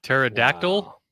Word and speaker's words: pterodactyl: the last four years pterodactyl I guarantee you it has been done people forget that the p is silent and pterodactyl it's not pterodactyl pterodactyl